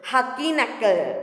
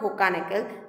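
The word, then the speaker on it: Hogenakkal: See the pronunciation, I have even written in Hindi also. Hakinakal. It is not Hukanakal.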